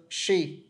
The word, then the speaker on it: she: She này chẳng hạn đa phần người Việt Nam đọc chữ này đọc là C tức là các bạn đọc là chữ S ngắn còn các bạn các bạn tấy phiên âm của nó chữ H dài nên các bạn phải đưa lưỡi xuống dưới She She She không dễ đâu nhá